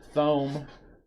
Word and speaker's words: Thome: Jim Thome. That really is how his name should be pronounced.